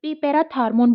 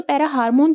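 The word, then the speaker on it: parathormone: ये पीटीएच हार्मोन, पैरा हार्मोन या पैराथार्मोन बोल लो या पैरा हार्मोन बोलो, अगर टी को साइलेंट कर रहे हो तो पैरा हार्मोन ये सिक्रेट करती है।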